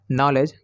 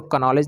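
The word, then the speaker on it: knowledge: रखते हैं जैसे में नॉलेज के एन ऑर्डर व्यवहार पर देखिए एंड से पहले किया है तो यहां पर के को से रखेंगे तो इसको कॉलेज नहीं पढेंगे नॉलेज बढ़ेंगे चलिए इसे कोरिया लेते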